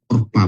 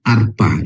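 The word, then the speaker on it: עָרְפָּה: dia jadi O ya Jadi kalau kamat di ada di depannya dia suku kata tertutup ya dia dibaca jadi O ya jadi dia bacanya orpa bukan Arpa ya Bapak Ibu ya ingat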